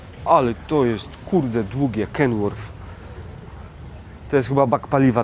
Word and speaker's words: Kenworth: Jest jeden Kenworth się tu czyta. Się wymawia Kenworth.